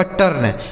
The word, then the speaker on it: turn: जैसे टी से हो गया दोस्तों ट, इस यू का उच्चारण आ हो गया, आर से र और यन से न, यह लिखा गया आपका टर्न, TURN टर्न हो गया।